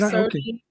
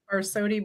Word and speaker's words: Barsotti: First of all, is your last name is it Barsotti or am I How How do you say it exactly? You got it. Barsotti Barsotti Barsotti potato potato.